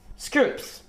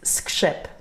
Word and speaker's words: skrzyp: Scroops. Very good. What is it? It's skrzyp. It's really hard to say.